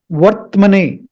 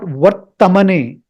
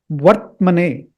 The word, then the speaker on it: वर्त्मने: So this has to be pronounced as Vartmane, not Vartamane. There is no A after T.